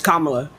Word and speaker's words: Kamala: It's Kamala. She's your vice president.